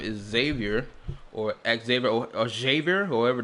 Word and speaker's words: Xavier: Xavier is how they pronounce his name. Xavier. I still find that weird that that's how they pronounce his name, despite the fact it clearly says Xavier. Like, come on. In English, we would pronounce his name as Xavier. Like, even without the E.